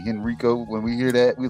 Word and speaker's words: Henrico: That's how you say it, Henrico. I keep on saying Henrico. That's what a lot of people say, and that's how like people here, we know those people are not from here, because when we